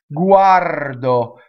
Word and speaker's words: guardo: I is always e guardo so the O is in the unstressed on accented position so it is closed the accent is ah right guardo they are